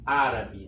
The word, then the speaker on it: árabe: Vamos ter alguns exemplos com uma palavra árabe, né? Árabe. A gente vê que é na antepenúltima sílaba.